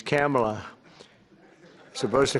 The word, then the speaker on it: Kamala: first name that we have, but fortunately it's pronounced different. It's Kamala. As opposed to Kamala.